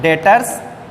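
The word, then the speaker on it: debtors: देनदार को बोलते हैं डेटर्स, इसमें बी साइलेंट है, और क्रेडिटर्स।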